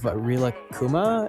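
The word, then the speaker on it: Rilakkuma: Your tattoo of Rila Kuma and Korla Kuma. Did I pronounce that right?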